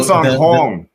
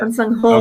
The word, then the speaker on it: Sahng-hong: It's Sahng-hong. So Sahng-hong. There's a home. Yeah. Sahng-hong. Okay. Sahng-hong. Yeah, it's like, but it's almost a double O.